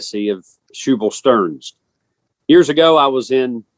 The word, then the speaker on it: Stearns: that the way that the old preacher himself pronounced his name and certainly the way the descendants of his brothers have is Stars they spelled that s t a r n